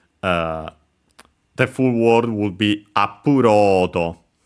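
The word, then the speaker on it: アップロード: The full word would be appurodo. By the way, accented on ro, on the load, so actually just like in English, upload.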